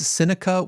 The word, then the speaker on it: Psenicka: I will say it's Psenicka with a silent P.